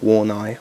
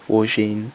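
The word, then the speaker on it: Wargnye: got an fipo Dominique copion and Pierre uh warin not warai warin that's how you pronounce it so this is a gorgeous sexy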